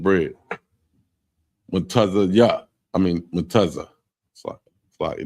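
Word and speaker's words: מצה: So it's spelled MATAZAH. That's Matazh. That's unleavened bread. Mutaza ya. I mean mutaza.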